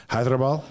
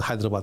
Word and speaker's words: Hyderabad: in the south south so you pronounce that hyderabad yeah yeah it's pretty close like pretty good pretty good for what i